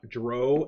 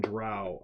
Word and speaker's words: drow: the mid 80s, and dro and drow are both acceptable pronunciations.